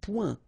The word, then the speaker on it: point: Un point. Un point. Alright, so you can see that here the only difference is the final letter, okay, but then they are pronounced the same way and both of them are masculine.